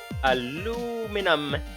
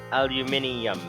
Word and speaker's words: aluminium: the gravel nice okay the original pronunciation was all you men and then when the num suffix became all the rage people began to pronounce it aluminum but then the people from England wanted to pronounce it properly but they kept the num suffix this aluminium possible hepatech you desert